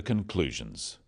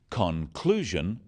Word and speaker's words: conclusion: In words, one syllable is stressed. The wrong stress makes it hard to understand. So, conclusion, not conclusion. Products, not products.